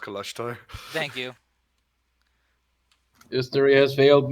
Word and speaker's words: Kalashtar: people known as a color star? Roll intelligence or history check. History, don't fail me now. Not to be that It guy, but it's failed pronounced me. Kalashtar. It's pronounced Kalashtar.